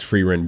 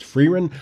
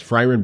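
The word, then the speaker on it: Frieren: anime of the entire year and that is free run Beyond Journeys and I've been saying friar in this whole time but I've heard people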